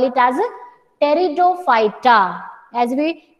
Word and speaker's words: Pteridophyta: For the third division, while pronunciation the alphabet P it will be silent. तो spelling में आप P लिखेंगे, but while pronouncing you will call it as Pteridophyta.